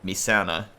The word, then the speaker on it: Messana: I say Messana because that's the way it looks like, you know, as an American if I'm speaking that. Senchibat linked me to a video where it's supposedly pronounced Misana, which I guess does sound much more Latin or Italian.